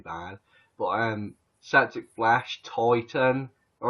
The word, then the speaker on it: Titan: this is septic flash titan and some people have pronounced this titan this has nothing to do with the female breasts nothing to do with tits people pronounce it titan